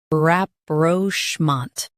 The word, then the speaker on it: rapprochement: Stress schmont and keep rap light.